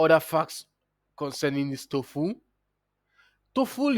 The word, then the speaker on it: TOEFL: TOEFL is being pronounced as TOEFL. TOEFL. TOEFL. TOEFL. That is the correct pronunciation for TOEFL exam.